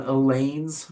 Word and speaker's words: Elaine: But Elaine rhymes with pain.